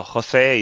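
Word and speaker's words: José: Do I pronounce it Jose or is it a different? It's perfect. It's perfect? Yeah, sometimes people, Okay. sometimes people abroad from Spain, they say Jose. Mm-hmm. So Jose is perfect.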